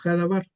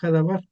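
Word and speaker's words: הדבר: El verbo también dice, el verbo fue hecho carne y la palabra verbo en hebreo es se pronuncia dabar o hadabar, el verbo.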